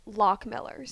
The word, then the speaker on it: Lochmiller's: I believe it's truly pronounced Lochmiller's. Yeah, because it says right there, that's from their We've thing. been pronouncing it Lochmiller's.